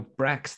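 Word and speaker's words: bracts: to operate good man Brax no Brax that's one b-r-a-c-t-s is how it's spelled are the outer leaves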